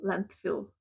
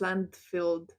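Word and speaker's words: landfill: on the Landfield so Land Fill now I know how to say it I was sure it's land filled like fill on the land when you put all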